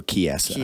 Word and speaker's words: Chiesa: Michael Chiesa. I can't ever pronounce his name. I'm sorry. Chiesa.